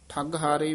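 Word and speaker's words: ਠਗਹਾਰੇ: है परे ठग हारे ठग हारे भी पाठ कस के उच्चारण करना इकट्ठा ही है सुने नगर नगर सुने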